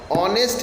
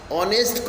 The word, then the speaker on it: honest: ए, और ये गलत हो जाता है, क्योंकि ऑनेस्ट को जब हम बोलते हैं तो यह एक वॉवल साउंड देता है, ऑनेस्ट, अ का उच्चारण आ रहा है।